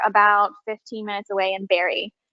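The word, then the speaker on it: Barre: 15 minutes away in barrie which is spelled uh like bar the exercise thank you so um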